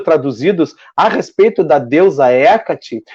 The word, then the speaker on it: Hecate: Bom, a deusa Hecate, Hecate. As três pronúncias estão corretas, tá? Então, essa deusa, o que me chamou a atenção, porque assim, eu particularmente não ouvia falar da deusa Hecate, mas não, eu falo Hecate, tá, gente?